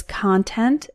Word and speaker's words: content: The C-O-N is pronounced con to rhyme with the word on when that syllable is stressed, and C-O-N is pronounced cun to rhyme with the word sun when that syllable is unstressed.